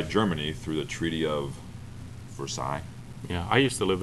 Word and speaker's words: Versailles: she was nuts, because she was pronouncing it correctly and they had never heard that term. What kind of ignorant person calls it Versailles? Yeah. Never seen two L's?